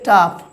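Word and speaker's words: tough: বলছে টি ও ইউ জি এইচ দেখুন শেষে জি এইচ রয়েছে তাই এখানে উচ্চারণ কি টাফ টাফের বাংলা অর্থ হচ্ছে কঠিন তারপরে দেখুন ই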